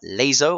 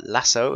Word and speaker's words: LASO: for you today or laso or lasso as some people like to pronounce it also since I don't